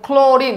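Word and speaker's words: chlorine: কিরকম আমরা বলতেছি ক্লোরিন সি কে সি উচ্চারণ করা বলে ক্লোরিন নট ক্লোরিন আমার সাথে বলো ক্লোরিন ক্লোরিন দেখো সি এর পরে প্রেসারটা গিয়ে এলে এ পড়ছে ক্লো সির পরে প্রেসারটা গিয়ে কোথায় পড়ছে এলে এজন্য প্রথমটা হবে ক্যাপিটাল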